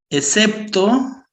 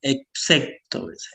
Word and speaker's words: excepto: Cuando hay que hacer esa diferenciación de la X con la C, ¿no? Excepto, excepto.